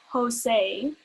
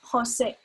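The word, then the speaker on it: José: person remember those vowels there's no jose it's just hosic that's it so practice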